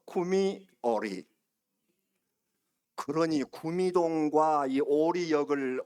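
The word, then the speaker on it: קומי אורי: 쿠미 빛을 바라라 오리. 구미오리. 자, 다시 한번 따라 세 보세요. 구미오리. 한 번 더. 쿠미오리.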